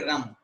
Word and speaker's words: रं: र के ऊपर बिंदी, इसको हम उच्चारण करेंगे रम।